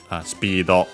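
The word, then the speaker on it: スピード: Cioè literally fierce, speed, well, speedo, the English term, which is one of those accent that become unaccented in Japanese, so be careful.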